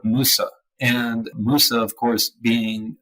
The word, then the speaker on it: Mose: at the fact that this word Mose, which we're pronouncing as Mose, but it is not a Spanish word and wasn't actually even pronounced like that. If you look at a ton of the records of the time, even maps of the time, it's very clearly labeled Fort Musa.